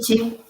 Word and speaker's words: Schmidt: Can you just how you It's pronounce Schmidt. it? Say again. Schmidt.